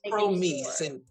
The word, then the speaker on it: Promeese: It's Promise, but it's Promeese in French.